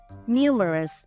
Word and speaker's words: numerous: Numerous. Âm tiết thứ nhất.